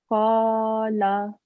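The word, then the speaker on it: قال: Just the lam, make it a bit shorter, 1 second long. Qala.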